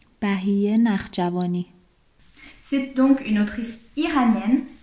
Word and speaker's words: Bahiyyih Nakhjavani: J'ai demandé à une amie qui vient d'Iran de prononcer le nom pour moi, comme ça vous saurez comment ça se prononce. Bai Narshavani.